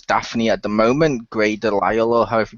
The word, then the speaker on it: DeLisle: one who voices Daphne at the moment, Grey Delisle, or however you pronounce her last name.